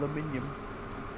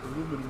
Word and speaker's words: aluminium: Aluminium. Aluminium. And the My hooks and fucking walls are probably thicker than it. We don't have the eye in it, So when we pronounce aluminum, we can actually have the fun and go aluminum.